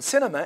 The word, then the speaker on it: cinema: On cinema, it is the first, cinema, cinema. So it is on the first.